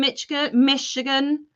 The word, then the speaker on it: Michigan: Hey, Judy in Michigan. I've got to remember there's a shh in that, not a ch.